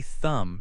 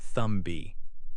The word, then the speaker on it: thumb: Another word is thumb. You say thumb, not thumb B.